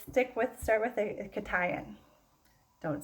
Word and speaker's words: cation: charged ion is called i'm gonna say it right katayan okay this is a cation um when it is